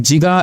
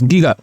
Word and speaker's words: giga: So some country they call it jiga and some countries it calls giga. Both are okay.